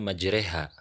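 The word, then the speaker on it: مجراها: Pada lafad majroha, maka cara membacanya majreha.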